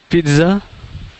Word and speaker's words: pizza: we're gonna hit that we're gonna hit that t right again we got two two pretty clear syllables we got the Pete and the Z yeah Pizza Pizza together like that um yeah so so